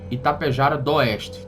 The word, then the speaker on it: Itapejara d'Oeste: O relato do Christian, que aconteceu lá numa cidade chamada Itapejara do Oeste. Itapejara do Oeste, né? Esse D aí é mudo, tem um apóstrofo ali.